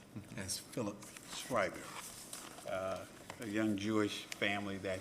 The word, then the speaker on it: Schreiber: daycare, he texted me to make sure I pronounced it correctly as Philip Schreiber.